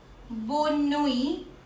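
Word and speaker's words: bonne nuit: बोना Pramati बोस so next up we have बोनोई सो इफ यू all have guessed इट यस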